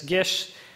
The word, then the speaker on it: Gish: company called Gish Foods it's looks like gixs but it's Gish it's Austrian so just go with